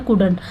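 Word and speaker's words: couldn't: है not anti कुडंट इसको पढ़ा जाता है कुडंट अब देखिए यहां पे कितनी चीजें हैं कितने साइलेंट वर्ड शॉर्ट वर्ड बन गया है नॉट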